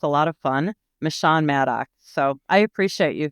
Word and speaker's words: Meshawn: Chief michan and my name is pronounced michan but Trump calls me mishan so that's toally acceptable if you want to say mishan I love I love